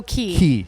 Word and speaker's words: Qui: Oh, Key. Yeah, QUI.